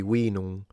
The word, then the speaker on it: vinum: Latin would be vinum. Vino is Italian. Latin would be vinum, with a long E sound and a nasalized M at the end, which is where you get wine with a W, by the way.